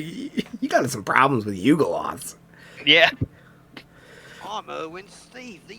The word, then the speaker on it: Yugoloth: got some problems with Yugoloths. Yeah. I'm Erwin Steve, the Eagleoth hunter. Yugoloths. Right. Yeagoloths. You're hitting that U a little bit too hard. Yeah. Yugoloth.